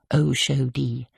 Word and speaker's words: Oshodi: She pronounced it like they did at home. Oshodi.